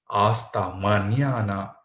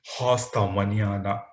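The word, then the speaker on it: hasta mañana: you then we have aasta manana you can't see hosta maniada why because h is silent in spanish you already know one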